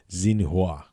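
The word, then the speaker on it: Xinhua: to the masses according to state-run press agency Zena wah that's the right way to say that a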